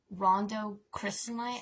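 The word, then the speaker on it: rhodochrosite: I literally have a piece of it and I pronounce it every time wrong. It's RHODOCROSITE. Rondo crystalline.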